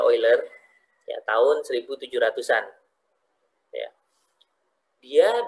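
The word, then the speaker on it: Euler: lewat couleur ya atau ada yang menyebut oil ya tulisannya eggler Tapi bacanya oil ya tahun 1700-an ya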